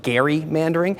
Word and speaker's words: gerrymandering: I mean, for instance, did you know it's actually pronounced Gary-mandering, named after a founding father named Elbridge Gerry, who first tried the tactic by drawing a map that the press said looked like a salamander.